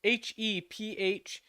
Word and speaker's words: Hephaestus: down with the names h-e-p-h-a-e-s-t-u-s so I'm gonna guess the pH is an F so if Festus Hephaestus